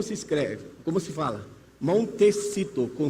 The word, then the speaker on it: Montecito: Entre na internet, coloque Al Gore, Montecito, como se escreve, como se fala? Montecito, com C, Califórnia.